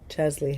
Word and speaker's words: Chesley: We were calling it Chelsea. It's not Chelsea, it's Chesley. Chesley hat.